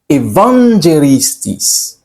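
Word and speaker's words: εὐαγγελιστής: Le mot évangéliste trouve ses racines dans le grec ancien qui prononcé Evangelistis qui signifie celui qui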